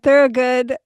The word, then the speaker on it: Thurogood: Welcome to Moonto Moon, Leanne Thor. Good. We were just talking about pronouncing your name. How'd I do? Perfect. Beautiful. You were saying thorough good is rooted in Thor.